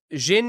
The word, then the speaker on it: Xin: Um, oh, it is Xin is between sin and shin and Xiang is pronounced the way you would read in English.